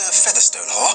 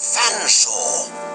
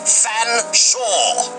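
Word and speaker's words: Featherstonehaugh: F, silent E, A, silent T, silent H, silent E, silent R, S, silent T, silent O, N.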